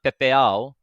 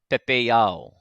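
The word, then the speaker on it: pepeiao: Yeah, not pepeao, pepeao. Yeah? Can you hear the difference? I'll say it without an e. Pepeao. And now I'll make sure that I get this e in there in my pronunciation.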